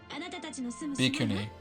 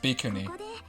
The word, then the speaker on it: Bhikkhuni: kind of a dick bikuni I'm pretty sure that's how it's pronounced bikuni Valkyrie Drive Bey mermaid